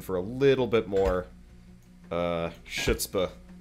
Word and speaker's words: chutzpah: chutzpah. It's pronounced chutzpah.